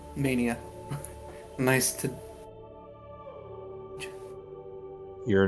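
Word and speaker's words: Menie: yeah no i said mania nice to your name is mania no it's spelled oddly m-e-n-i-e on pronunciation your net your name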